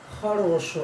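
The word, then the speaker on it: хорошо: ये एक्स मतलब ख पढ़ेंगे, इसको ख से इसको पढ़ा जाएगा, बहुत ही प्रोनाउंसिएशन इसका थोड़ा अलग है, ख इसको पढ़ेंगे हम लोग, ठीक है।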